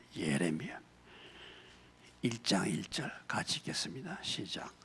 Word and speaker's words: 예레미야: 예레미야 제가 꼭 발음이 에레미야라 그런다고 자꾸 저를 갖다가 뭐라고 하는 사람이 있어요. 예레미야 1장 1절 같이 읽겠습니다.